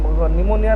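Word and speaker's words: pneumonia: भी आछि pleuro निमोनिया एटा निमोनिया रे हमर पीटा silent रहइबो निमोनिया organism like organism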